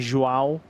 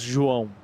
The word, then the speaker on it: João: So instead of saying like João, it goes João.